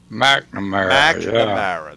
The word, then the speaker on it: McNamara: McNamara. There you go. Yeah. Oh, I know that because I knew a girl had that last name. McNamara.